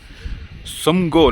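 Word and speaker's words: Tsomgo: உள்ள மிலிட்ரி ஆஃபீஸர்கிட்ட கேட்டேன் இந்த லேக் எப்படி ப்ரொனவுன்ஸ் பண்ணுவீங்கன்னு. சம்கோ லேக் அப்படின்னு சொல்லுவாங்களாம்.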